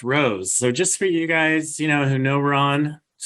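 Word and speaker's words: Rocz: And today I'm here with Ron Rose, who I called Ron Rocks for about the first 4 years that I knew him. So that's R-O-C-Z, pronounced Rose.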